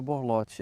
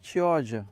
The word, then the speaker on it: Chioggia: Perdão, não é borlote, é Chioggia. Vamos acertar a pronúncia.